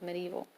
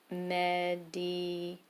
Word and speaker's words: medieval: Notice, if you're going to write this on your paper, notice the spelling of medieval. It looks like it should be pronounced medieval, okay? But it's medieval.